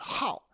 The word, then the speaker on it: 好: Now this is cool because first of all, 好 is usually pronounced third tone and it means good, but when it's pronounced fourth tone, 好, it's a verb meaning to like.